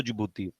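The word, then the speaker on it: Djibouti: है ठीक है और जुबू है ये डी इसमें साइलेंट होता है तो जुबू तो छह कंट्रीज है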